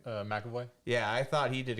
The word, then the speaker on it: McAvoy: McAvoy? McAvoy.